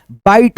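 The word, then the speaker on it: bite: जैसे बी आई टी ई है तो यहां पे ब ई ट बाइट हो गया।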